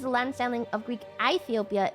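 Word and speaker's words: Aethiopia: Ethiopia is the land sailing of Greek Ethiopia. It's a diff thong. I is pronounced like short E, so it would still be Ethiopia.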